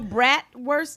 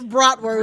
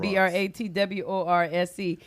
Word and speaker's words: bratwurst: It's spelled BRATWURST, and I said BRATWORSE.